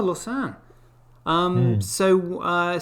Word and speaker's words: Lausanne: great yeah ted uh is it lost lawson how do you pronounce that lassen in uh switzerland oh lausanne um so uh says